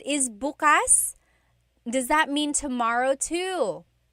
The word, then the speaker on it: bukas: If you say bukas, bukas, the emphasis is on the second syllable. That means open. If you say bukas, bukas, emphasis is on the first syllable. that means tomorrow.